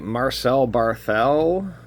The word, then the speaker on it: Marcel Barthel: actually see what we got here all right Marcel Barthel that's how you say it yeah Sheila I'm